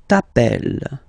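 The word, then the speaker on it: t'appelles: Okay, remember final s not pronounced tapel.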